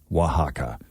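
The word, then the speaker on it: Oaxaca: best International cities and their top pick is ohaka Mexico wa wahaka it's pronounced Waka it's spelled o a x AA and according to the phonetic pronunciation here on this article it's pronounced wahaka Waka yeah two more cities in Mexico also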